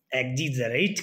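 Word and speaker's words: exaggerate: अब आगे क्या होता है, EXAGGERAT, एक्साजीरेट, एक्साजीरेट ऐसे बोलेंगे इसको, बोलने में इसका प्रोनाउंसिएशन क्या होगा, एक्साजीरेट। ठीक है, ये मीनिंग आपको ध्यान रखनी है।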